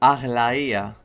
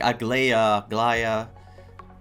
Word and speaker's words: Aglaia: Cause the name is like Aglaia, but I've heard like Aglaya.